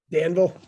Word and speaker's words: Danville: one thing so james dave how do you pronounce it daneville or danville danville danville now you you you you did some